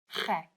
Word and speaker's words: gek: And gek is also a bit of a gek word to know because it's like the ch sound and the ek, which means me.